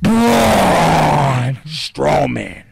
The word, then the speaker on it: Braun Strowman: who'd you say again braun strowman you gotta say it right that's why i've had you repeat it's broad straw man okay i've got a